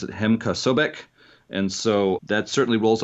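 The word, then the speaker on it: Hem-Ka Sobk: When I was younger and I first read this, I thought it was pronounced Hemkasobk, but I have met a number of people who pronounce it Hemkasobek.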